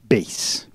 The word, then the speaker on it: bass: we call it bass. Bass, okay. Which is not like it should sound. There's another word that's spelled exactly the same way that we pronounce bass, and that's a kind of fish.